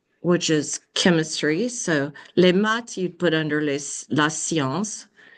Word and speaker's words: maths: So, likewise with math, we would say they say les maths. They just pronounce the T there.